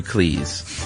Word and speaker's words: Cleese: He noted that his name is pronounced to rhyme with cheese rather than fleece. In fact, his surname was originally Cheese, but his father changed it to Cleese.